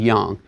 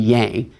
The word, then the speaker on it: yang: can be seen in this notion of een and Jung okay sometimes Americans say yin and yang Union Jung sounds a little more Chinese so there are these